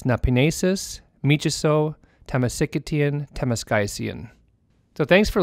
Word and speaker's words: miciso: And in Cree, that phrase is pronounced Napinesis, Michiso, Temesikitian, Temeskaisian. Once more, it's Napinesis, Michiso, Temesikitian, Temeskaisian.